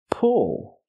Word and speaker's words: pull: But then we have this word is pull. It has the sound like good and book, pull.